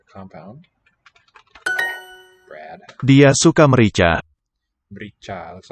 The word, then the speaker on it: merica: Merica. Looks like America, missing its first letter. Dia, he, she. Suka likes merica. And this is a three-syllable. Merica.